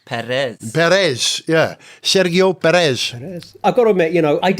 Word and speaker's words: Sergio: His name is not Sergio, it's Sergio. It's not Sergio, it's Sergio Perez.